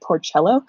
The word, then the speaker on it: Porcello: This one has pigs on it, which Porcello, which is how I pronounce my name, but you should pronounce it Porcello, and that means little pig in Italian, so I think that's kind of fun.